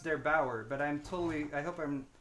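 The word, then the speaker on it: der8auer: is won yesterday by, I believe his name is pronounced Der Bauer, but I hope I'm not wrong about that.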